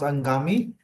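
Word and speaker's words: Anghami: like there is one audio streaming platform called angami a n g h m a m i it is pronounced angami I think if you have might heard about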